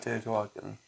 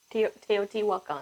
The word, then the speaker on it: Teotihuacan: We're talking about founders of Teotihuacan. Teotihuacan? Or is it Teotihuacan? Teotihuacan. Teotihuacan. I have to watch a 15-second ad just so I can hear the word. Teotihuacan. Teotihuacan. No. What? Teotihuacan.